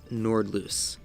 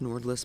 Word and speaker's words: Nordlys: trees and of course nord loose i thought it's pronounced nordless but it's pronounced nordloose the more you know